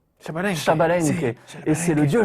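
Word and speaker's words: Xbalanque: là voilà alors X balank et ça se prononce chabalen Shabal Shabal et c'est le dieu jaguarid Jaguar of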